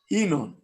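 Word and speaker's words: ינון: Enon. Enon? Enon. It's the name What? of the Mashiach. Enon? How you spell it?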